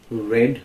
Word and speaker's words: read: is the mean verb read red red the spelling remains the same but the pronunciation changes being read by whom